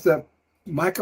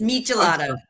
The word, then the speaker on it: michelada: and events and speaking of Mexico what is the Mada I hope I pronounced that correctly no you you mispronounced it it's michelada okay mik okay me local favorite so tell